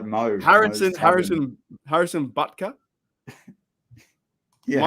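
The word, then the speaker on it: Butker: most harrison's harrison harrison buttka yeah am i pronouncing the first bit too long i don't know but it's not buckets oh anyways look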